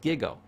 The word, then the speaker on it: GIGO: teach a computer term it's called giggle it's pronounced gigo g i g o garbage in garbage out